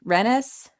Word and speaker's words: Rennes: Rennes? It's Ren. It's just Ren. Rennes. They call him Ren, but I think the prison is Rennes or Rennes. I think if you're French, you don't pronounce the ES.